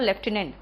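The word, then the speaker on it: lieutenant: Colonel में आर नहीं होता और लेफ्टिनेंट में एफ नहीं होता। इससे सही प्रोनाउंसिएशन है तो कर्नल और लेफ्टिनेंट।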